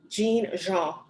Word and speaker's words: Jean: Jean.